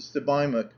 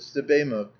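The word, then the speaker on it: Sebamook: of moose head Lake Joe answered stuk Tom pronounced it stok when I asked what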